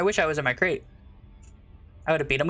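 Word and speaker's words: Krait: I wish I was in my crate. I would have beat him up. No, no, no. It's crate spelled with a K.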